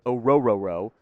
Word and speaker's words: Orhorhoro: Maason Smith out of LSU, McKinnley Jackson out of A&M, Ruke, I'm 90% sure it is pronounced Orhorhoro. I've seen other names because the R is silent, basically, out of Clemson.